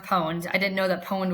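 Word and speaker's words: pwned: I mispronounced the word and um it's I mispronounced poned. I didn't know that pon was spelled pwn ne because I don't I'm not a gamer. Um, I thought pawned was like P n.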